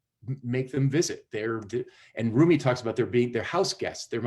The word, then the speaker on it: Rumi: called the house guest and it's about and roomie is spelled r-u-m-i and if you google roomie house